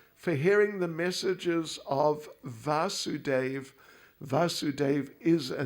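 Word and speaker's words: Vāsudeva: it very slightly so krishna's father is vasudeva vasudeva a short a vasudeva and therefore his name in relation to his father is vasudeva with a long a vasudeva is the son of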